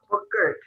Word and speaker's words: Buchert: By the way, is it Buchert or Buchert? Buchert. Buchert. Okay, I want to make sure I say it correctly.